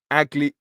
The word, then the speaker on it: Akliouche: It's pronounced Akliouche.